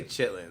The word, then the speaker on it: chitlins: examine the word here it's chitlin I say chitlins it's chitlin that is not how it is spelled yeah I know I'll